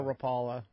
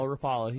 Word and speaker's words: Rapala: No, Rapala. Okay, yeah, it was sure. on a Rapala. If you're from Southern California, it's still Rapala.